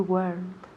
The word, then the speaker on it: weren't: So, weren't solo tiene una sílaba, por favor.